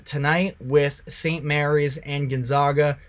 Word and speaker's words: Gonzaga: Gonzaga I got um I got some negativity based off of the way that I pronounce their name it's Gonzaga but they should be in